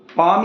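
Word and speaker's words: palm: कोई वर्ड है जैसे कोई क्या बोलते हैं पाम ही है पाम तो इसमें पाम में क्या आता है एल आता है ना लेकिन एल क्या है साइलेंट है तो ये हमने कैसे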